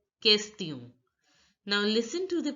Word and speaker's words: question: Now look, the here this word is pronounced as kest, kest, and I you already know is pronounced as e, and on is a nasal sound which is pronounced as o. So break the word and understand. Kest, this is pronounced as kest, e, o. So it becomes question.